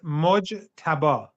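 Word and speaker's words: Mojtaba: So is it Mojaba Kame, the son of the previous Ayatollah? Mo, it's Mojaba.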